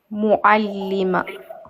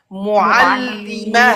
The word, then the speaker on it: معلمة: regarde, le T fermé se prononce comme ha. معلمة. Mais prononce bien l'Aïn. Ok. معلمة. Voilà. Mu'allimah.